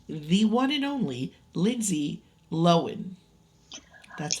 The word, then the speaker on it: Lohan: Irish wish with the one and only Lindsay loen that's how you pronounce is it loen I I will continue to call her Lindsay Lohan and you can Cy that pronunciation out of